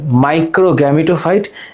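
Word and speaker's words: microgametophyte: তাহলে এটার নাম হচ্ছে মাইক্রোগ্যামিটোফাইট। এটার নাম ম্যাক্রো গ্যামিটোফাইট। তাহলে উচ্চারণটা কি দাঁড়াচ্ছে? উচ্চারণটা দাঁড়াচ্ছে মাইক্রো মাইক্রো গ্যামিটো ফাইট।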